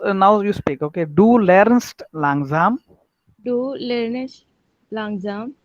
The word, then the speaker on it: lernst: हाँ, lernest मत बोलो, lernest हाँ, बोला ना तो NEST आता है, नहीं ऐसे. हाँ, ऐसा नहीं, तो learns ठीक है, थोड़ा अभी Lernst, मैं बोला ना, लेकिन रॉन्ग प्रोनाउंसिएशन करो मत ऐसा, okay, lernst. so that is correct, okay।